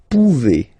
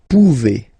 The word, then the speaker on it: pouvez: Then vous pouvez, okay? Classic ending as well for the vous form. A Z like that, okay? Remember you pronounce it E, okay? Vous pouvez, vous pouvez.